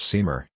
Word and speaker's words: St Maur: Marge AP DL pronounced seamer June 6th 1869 April